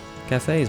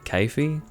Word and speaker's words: Kafei: and she gives me cafes masks now people pronounce his name differently some say kaifi I guess I say cafe like that's what it looks like to me and recruited anyway you've